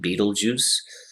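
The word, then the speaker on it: Betelgeuse: a very strange name it's pronounced beetlejuice just like the movie in the 80s it is a very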